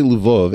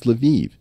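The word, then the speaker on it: Lviv: way if I say luvov everyone's going to correct me and say no no Eric it's leviv it's like no these spit these cities all have multiple pronunciations I I always thought of lavov was a Polish City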